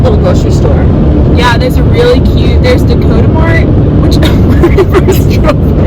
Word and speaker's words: Dakota Mart: a grocery store, and I did not pronounce it correctly. She called it Dokamart or something. I thought, you mean Dakota, like South Dakota?